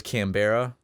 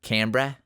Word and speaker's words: Canberra: Melbourne just like can't I thought it was kambera it's it's Canberra kit no I asked